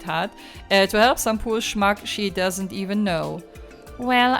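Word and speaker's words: schmuck: Also, Schmack heißt Trottel und es wird wirklich Schmack ausgesprochen.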